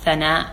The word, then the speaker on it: Sana: so my name in Arabic would actually be pronounced Sena but when you take when Indian culture Pakistani